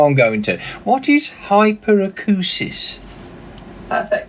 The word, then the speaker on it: hyperacusis: but I know I'm going to what is hyperacusis perfect pronunciation oh thank you thank you I apprecially